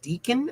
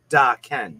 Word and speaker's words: Daken: Is it Deacon or is it Daken? And she was like, no, it's Daken.